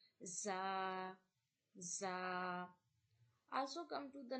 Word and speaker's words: ز: So za, seen, both are whistle sound letter and both are pronounced from the same place. You have to touch your tongue to the middle of your teeth, upper and bottom teeth.